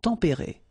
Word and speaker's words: tempérés: Final S not pronounced, but then you should definitely pronounce the accent.